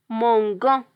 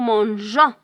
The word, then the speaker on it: mangeons: the personal pronoun nous, we can't write with the G without E because we will pronounce it mangan. G with an O, it's pronounced go. So here we have to add the E in order to pronounce G.